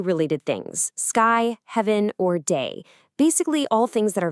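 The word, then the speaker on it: 大: This new character is pronounced da, and it means big.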